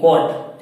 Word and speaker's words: कट: इसी प्रकार यहाँ पर हम देख सकते हैं कि ये यू आने पर CUT, कट, क्या होगा? CUT, यानी कट, सी के बाद में यू आया और उच्चारण क्या हुआ? कट।